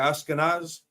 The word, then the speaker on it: Ashkenaz: Ashkenaz. That's how it's pronounced in Hebrew.